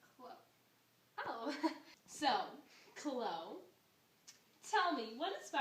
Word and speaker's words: Chloe: It's pronounced Chloe.